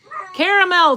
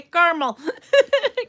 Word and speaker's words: caramel: I'm sorry, where I come we say car-mel. Car-mel, not car-a-mel. Car-a-mel's British. No, actually I think US is pretty split on that, too.